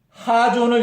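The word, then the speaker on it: חזון: 히브리어 원어에 보면 하존을 임봉하라고 했습니다. 하존. 이 발음이 좀 어려운데요. 하존이라고 읽기도 하고 또 카존이라고도 읽습니다.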